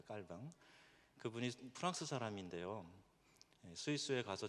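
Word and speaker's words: Calvin: 곳이지 않습니까 여러분이 아시는 칼빈 불어 식으로 발음하면 칼입니다 깔뱅 그분이 프랑스 사람인데요 스위스에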